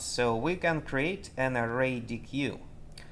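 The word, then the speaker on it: ArrayDeque: we can create an array DQ an array deck properly pronounced array deck and uh let's see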